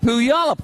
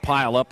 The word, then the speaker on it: Puyallup: Out of Puyallup, Washington. I said it right. Puyallup, yeah. Puyallup. He told me wrong then. He lived up there too. It's Puyallup, not Pile Up or Puyallup.